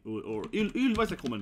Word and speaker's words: Ylva: So pronounce Ylva, right?